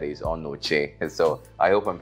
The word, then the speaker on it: Onochie: the right pronunciation of the name I was pronouncing onuchi then he said he's on Noche and so I hope I'm pronounce it all